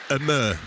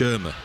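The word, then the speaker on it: Ömür: It's Abdush Amur, not Abdush Irma.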